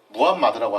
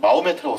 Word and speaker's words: 무함마드: 그러니까 다들 마호메트를 알고 계실 텐데 사실 마호메트는 영어식 발음이고 원래 진짜 아랍식 발음으로는 무함마드라고 합니다. 근데 옛날에 제가 어릴 때만 하더라도 교과서에는 그냥 마호메트라고 썼어요.